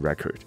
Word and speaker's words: record: 形容词，发音还是 record，所以这个。